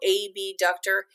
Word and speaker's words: abductor: So abductor, and I say it like that because it's hard to distinguish when you say abductor and adductor. It's hard to hear the difference between the B and the D, and they mean two different things.